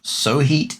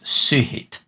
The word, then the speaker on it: Suhit: It is not Suhit, it is not Sohit, it is Suhit. Suhit. So this O/ character is pronounced as U. It's an U character, so it's Suhit.